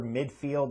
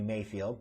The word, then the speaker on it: Mayfield: in cleveland about baker midfield and his relationship with kevin stefanski who knows if midfield even plays in this game excuse me mayfield no i said it right the first time freaking midfield oh my goodness things went